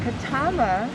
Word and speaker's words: Katama: a little prayer at the marley room um katama is actually how it's pronounced means place to fish to fish yeah